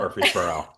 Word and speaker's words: Murfreesboro: We've got Murfreesboro. Am I Hey, pronouncing I, that I went correctly? to undergrad at Middle Tennessee State, so I'm Oh, very there you familiar with go. Murfreesboro.